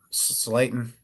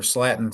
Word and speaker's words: Slayton: Or no, but somehow they mispronounce Slayton. They called her Slatin somewhere. It happens.